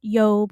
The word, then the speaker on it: Job: Usually it's a Y sound, Yob or Yashub, of the Jashubite clan.